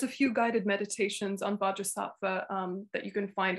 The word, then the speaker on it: Vajrasattva: is it vajrasana is that how do you pronounce his name vajra saatva bhaja sa okay and there's a few guided meditations on baja sappha um that you can find online short versions